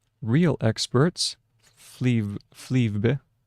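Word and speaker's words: Flyvbjerg: Fle flebe. Flebe.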